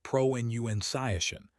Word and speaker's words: pronunciation: But for this word, remember pronunciation. The middle syllable rhymes with fun, not with bounce.